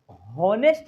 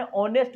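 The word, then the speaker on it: honest: तो होनेस्ट नहीं बोलते हैं, क्या बोलते हैं, होनेस्ट नहीं बोलते हैं, एन ऑनेस्ट बोलते हैं, ऑनेस्ट। जैसे आवर बोले, एच साइलेंट होकर के इसका साथ से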